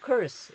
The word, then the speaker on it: curds: 자음이 연달아서 하나, 둘, 셋 이렇게 있을 때는 가운데 거를 소리 안 냅니다. 그래서 curse 이렇게 들립니다. 자, 이런 거 cloud 해봅시다. 이거 말고 다른 게 있었는데 하여튼 하나, 둘, 셋 되면 가운데 거를 묵음을 시킵니다. 묵음 형상. 그래서 colds 안 하고 curse.